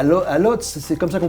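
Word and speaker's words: Łódź: des grandes marques de couture, à Varsovie, à Lodz, c'est comme ça qu'on prononce. Lodz, oui, ouais, donc ça.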